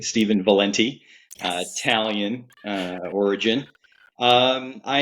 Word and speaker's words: Valente: you for having me here uh you did pronounce it correctly Steven Valente Italian uh origin um I am the father